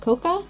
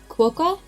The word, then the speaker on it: quokka: But okay, is it Coca? Quokka?